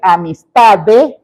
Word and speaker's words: amistad: También de articular bien, no es amistad. Eso no termina en T, termina en D. ¿Cómo se pronuncia? Bueno, te imaginas que vas a decir amistad y le callas la E, amistad.